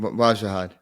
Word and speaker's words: Wajahat: Wajahat.